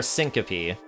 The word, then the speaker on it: syncope: medical procedure often used to diagnose dysautonomia or syncope.